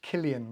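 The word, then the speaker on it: Cillian: said that wrong myself Killian Murphy it's because it's spelled with the c and not okay oh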